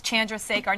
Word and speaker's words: Chandrasekhar: And it's crazy because you have the hardest last name, but every guy knows how to pronounce it correctly. They actually correct me on it. It's Chandrasekhar.